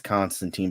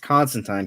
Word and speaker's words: Constantine: is it Constantine I forgot well the American pronunciation is Constantine but the fact that he's a British character and he did confirm that his name is pronounced Constantine because that's how it's in pronounced in Europe